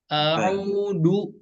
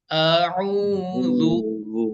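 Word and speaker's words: أَعُوذُ: Jadi cara bacanya bukan a'udu, a'udu, a'udu, tapi a'udzu, a'udzu.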